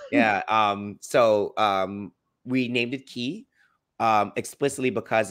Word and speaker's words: quai: Key. Like the key energies. Yeah. But it's spelled QUAI, so I screwed that up. Oh no, listen, it's French.